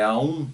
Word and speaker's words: Om: Om, né, cuja pronúncia é Aum, né? Aum, Aum, né? Om é aspirando e Aum é expirando, né?